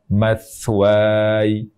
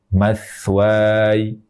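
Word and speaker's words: مثواي: yang enam juga diperkenankan jadi kalau saya baca dua harakat maka saya akan baca matwai matwai kalau kita baca dengan panjang empat harakat maka cara membacanya matw w ya EMP harakat jika mau membaca dengan panjang en harakat maka cara membacanya matw jadi yang panjang en harakat itu waanya bukan y-nya ya demikian cara waakaf atau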